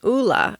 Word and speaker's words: Ulla: it is called an Oola. At least that's how I think that you pronounce it. It's ULLA, and I will have the links in the show notes.